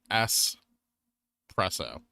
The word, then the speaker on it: espresso: Pronounced S-presso. Not X. There's no X in the word.